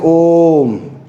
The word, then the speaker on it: ओम: करते हैं, ठीक है, इसको हम लोग बोलते हैं तो लंबा घसीट के बोलते हैं, जैसे ओम।